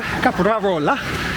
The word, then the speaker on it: Caprarola: Caprarola. It's hard to say that when you don't roll your R's in your native language.